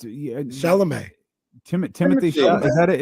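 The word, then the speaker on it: Chalamet: Shamagne. Ain't that how you say his name? Oh, the little actor dude. No, it's Shalomé.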